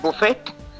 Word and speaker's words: buffet: la carte buffet is you know what a buffet is right it's not buffet it's buffet buffet tea is silent a la carte is when you order